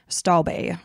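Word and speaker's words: Stobbe: Beijing China with her Danish partner Ole Staub stalbay is how you pronounce it and it was interesting for me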